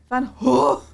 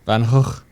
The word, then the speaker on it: Van Gogh: The first G is pronounced as the last. My native language is grown to. Gog. Van Gogh.